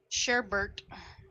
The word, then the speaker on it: sherbet: Sherbert. It's not sherbet, it's sherbet. It's spelled sherbet. It's pronounced sherbert unless you're a freak.